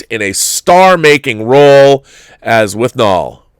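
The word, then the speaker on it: Withnail: a star-making role as with null I mean I say with nail cuz that's how it's spelled but they say with null guess it's nail but with nail and I it is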